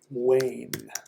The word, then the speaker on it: Wen: W-E-N is pronounced Wayne.